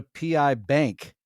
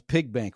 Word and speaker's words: Pie Bank: I think that's pronounced Pi Bank. That's what I I thought it was pig bank when I first looked at it, but maybe that's so it would not be pig.